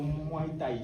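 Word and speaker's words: muay-thaï: de se consacrer pleinement au moins taille. C'est comme ça ça se prononce.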